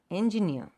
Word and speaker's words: engineer: So engineer. So the stress is on the last syllable.